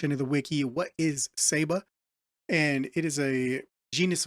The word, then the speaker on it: Ceiba: to say this word uh but it is pronounced saba and if we come over into into here I did a little little research into the wiki what is saba and it is a genus of trees uh